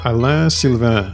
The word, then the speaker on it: Alain Sylvain: my name is uh lassen that's how you say it in French and I work for